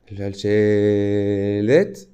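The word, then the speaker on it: שַׁלְשֶׁלֶת: occurrences de ce signe-là, shalchelet. En rite séfarade, il se prononce à peu près comme ça, shalchelet. Et en rite ashkénaze, c'est plutôt comme ça, voilà.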